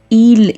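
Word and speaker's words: ils: and feminine subjects them S at the end of the word ill is silent third person plural l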